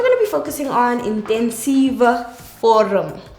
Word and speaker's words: intensiewe vorm: So, intensiewe vorm. Remember, W makes a V sound. So, intensiewe vorm.